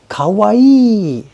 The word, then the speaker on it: Kawai: Kawaii. That's cute. These people's names are not spelled that way. They are 3 syllables.